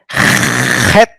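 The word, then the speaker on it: חית: This is het. No? This is like a hey, but when you pronounce it, it is heavy. No? It is rough. It's guttural from the throat.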